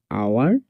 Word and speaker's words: hour: HOUR আওয়ার, HEIR ইয়ার, ইয়ার উচ্চারণ হবে এখানে ইয়ার।